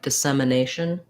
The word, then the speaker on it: dissemination: so dis de sem this e is gonna be just like the e in them um or red but